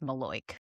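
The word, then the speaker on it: malocchio: And also, just to confirm once again, if you're in New Jersey, this is pronounced maloy.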